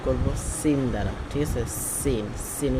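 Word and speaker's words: سين: Scene scene উচ্চারণটা হবে জিহ্বার আগা সামনের উপরের দুই দাঁতের ফ্যাট এবং আগা হইতে উচ্চারণটা হয়, যেমন কি সিন সিন সিন সিন, ঠিক আছে।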